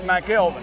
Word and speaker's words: McElveen: last name mcelveen that's right pronounced mcelveen that's right he's been hitting the iron